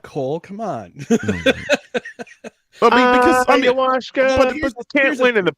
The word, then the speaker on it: ayahuasca: It's pronounced ayahuasca. Cole, come on. Ayahuasca.